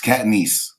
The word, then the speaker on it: Catanese: It's Catanese.